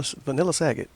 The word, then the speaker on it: Sagat: You mean to tell me that Vanilla Sagat in Street Fighter, I know it's pronounced Sagat, but you mean to tell me